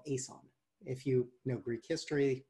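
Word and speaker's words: Aeson: I think my wife would tell me it's pronounced ISON.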